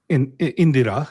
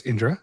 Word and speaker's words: Indra: the sun um Indra Indira yeah that's how they spell it there but it's Indra and then uh Nasathya is the the ushins or the the horsemen.